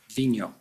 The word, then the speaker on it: Vigneault: Now, would you help me with the pronunciation of Minister David's last name? We've all been debating about how to pronounce it properly. Vigneault. Vigneault, all right.